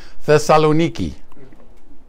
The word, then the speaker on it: Thessaloniki: in Greece called salonica or as the locals pronounce it Thessaloniki it's a very beautiful